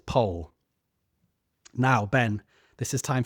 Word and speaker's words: Powell: It's spelled P O W E L. So Powell, but they pronounce it Paul.